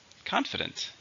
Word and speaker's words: confident: How many syllables are in confidence? 3. Stresses on the first syllable. Confidence. I don't share your confidence about the economy. We also have confident.